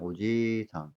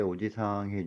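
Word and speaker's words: おじいさん: 우리가 할배해 주면 할아버지 해 주면 오지상 길게 발음해 줘야 됩니다. 만약에 짧게 오지 사항해 주면 아저씨가 돼요.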